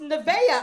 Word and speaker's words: Nevaeh: He's like, Mama, it's pronounced Nevaeh.